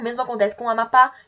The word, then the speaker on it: Amapá: O mesmo acontece com Amapá e Urubu. E se vocês fizerem esse exercício de chamar, vocês vão ver que vocês vão se alongar no pá e no bu.